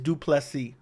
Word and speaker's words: Du Plessis: It is Dricus Du Plessis. That is how it's pronounced.